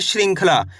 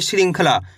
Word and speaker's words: श्रृंखला: अं की मात्रा है तो कैसे पढ़ेंगे श्रृंखला यानी कि अं की मात्रा का उच्चारण में निकलना चाहिए श्रृंखला इस तरीके से भ